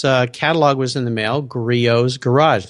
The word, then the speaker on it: Griot's: was in the mail griot's garage not a lot of people I heard you call it griots the T is silent it's a French word but I got the